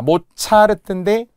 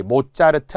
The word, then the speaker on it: 모차르트: 자, 모차르트인데 역시 된 소리. 모자르트 안 되고요.